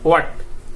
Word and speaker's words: what: যেমন আমি সংক্ষেপে বলি এটা সঠিক উচ্চারণটা কি হবে, এটা হবে ওয়ার্ড, অর্থাৎ হটা উচ্চারণ হবে না, এটা উচ্চারণ হবে না, ডিরেক্টলি আপনার উচ্চারণ হবে ওয়াট।